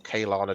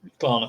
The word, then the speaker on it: Klarna: And I think the biggest difference here is the likes of Klarna or Kaylana, depending on how you pronounce it. Who pronounces it Kaylana? Oh, people do. Wrong. It's very wrong. Klarna.